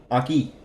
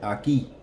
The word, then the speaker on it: aquí: Number 9, the word for here, as in this spot, this location, aquí. Notice the accent on the I, aquí, aquí. That's where that stress is.